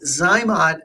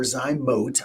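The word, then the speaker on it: ZyMōt: Well, so Zymot or Zymote, I believe is the correct pronunciation. I always call it Zymot, but I'm pretty sure I'm wrong.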